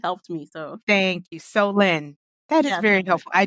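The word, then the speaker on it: Solène: SOL Solen so look there's actually a part in the book where he PR says how to pronounce her name and he's like oh so you mean so lend me some money like that's right like yeah so L okay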